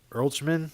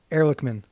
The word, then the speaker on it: Ehrlichman: Earlchman? Well, I'm not. You're the I'll one read that's it for better you. with names. Yeah, it's Ehrlichman. It's We'll go with that. Ehrlichman.